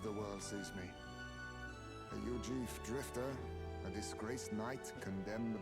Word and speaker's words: Eug: world sees me a eug Drifter a disgraced Knight condemned by the sanctis uief that's how it's pronounced what couldn't they pin on me it's like Eugene but e instead of E they cast me out